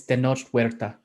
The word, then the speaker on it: Tenoch Huerta: So anyway, as far as how to pronounce it, it's Tenoch Huerta. I got the second part right, I think. Only I may have been too hard on the H.